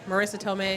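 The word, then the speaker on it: Marisa Tomei: Marissa Tomei.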